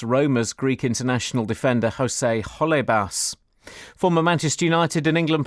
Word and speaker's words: Holebas: What's Jose Halabas? Holebas.